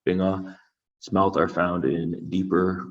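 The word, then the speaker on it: 빙어: In Korean, it's pronounced binga.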